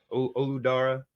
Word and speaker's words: Olu Dara: Olu Dara.